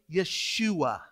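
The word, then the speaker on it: ישוע: Hebrew name in Hebrew we would actually say Yeshua is how we would pronounce that name or Joshua and what does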